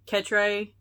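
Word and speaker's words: Katchrae: looking for odd names like ket ray well it's spelled ka t CH r AE so I'm kind of looking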